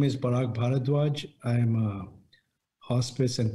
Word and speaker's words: Parag Bharadwaj: your background thank you paul my name is barak bharadwaj i am a hospice and dietetic medicine physician